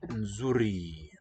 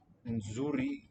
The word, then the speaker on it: nzuri: Nzuri, I think, is a pre-nasalized fricative. probably best regarded as a single sound, just a complex segment.